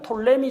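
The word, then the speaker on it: Ptolemy: 다음에 남쪽의 누가 있느냐 톨레미 장군이 부터 사람이 아닙니다 필자 묵음 입니다 톨레미 장군이 남쪽 지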